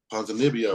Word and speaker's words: Ponzinibbio: I'm gonna pick Ponzinibbio. Well, how do you say it one more time? Ponzinibbio. What's that double B? With the double B, what's that make? It's Nibbio. So Ponzinibbio. Yeah.